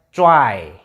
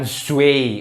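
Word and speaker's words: zwei: C terus W, EI jadi apa tadi? AI kan? Berarti bacanya, nah bacanya cuai. Oke, cuai. Jadi kayak, nah kayak gini, cuai. Oke, bacanya cuai, bukan zui. Oke, bukan zui, tapi cuai.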